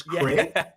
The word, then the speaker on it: Craig: They say it like it's a hybrid between Greg and Craig. It's Craig.